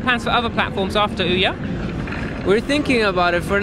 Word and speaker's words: Ouya: Ouya, okay.